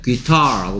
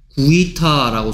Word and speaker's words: guitar: 원래 guitar라고 발음하는데 마치 생긴 건 어떻게 소리 날 것처럼 생겼어? 구이타라고 소리 날 것처럼 안 생겼냐?